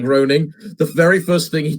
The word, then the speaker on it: Groening: game was shown to Matt Graying, or Matt, I can't remember how to say his second name. Matt Groening.